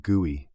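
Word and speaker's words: GUI: This graphical user interface or guey, pronounced guey, was made possible by another concept pioneered at Xerox Park, bit mapping.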